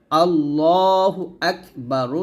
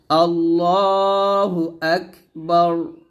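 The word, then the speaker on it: الله أكبر: হু আল্লাহু হামজা কাফ জবর আক এখানে হামজা উচ্চারণ হবে আক বা জবর বা র পেশ রু আল্লাহু আকবারু যদি আমি এখন ওয়াক্কফ ধরি তাহলে র টা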